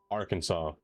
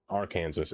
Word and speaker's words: Arkansas: Like how I'm wrong saying Arkansas. Arkansas. It don't make no sense. That's the right way.